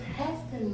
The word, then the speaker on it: Haston: My last name is, well, my maiden name is Haston, but people always say Haston, or I've even had someone recently tell me, no, your name is, you pronouncing it wrong. What? I'm pronouncing my name wrong? They're like, no, it's Haston, like Gaston. Oh, okay, if you say so, but no, my father's family, they all pronounced Haston, so whatever.